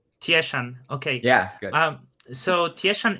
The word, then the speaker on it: Tieshun: Am I pronouncing this right? Yeah, Tieshun. Tieshan.